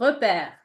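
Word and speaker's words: repère: the third example rep so repair like we said it's an open E so repair it's a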